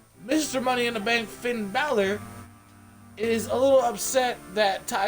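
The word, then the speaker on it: Bálor: Money in the Bank himself, Finn Balor, or Balor as it's actually pronounced.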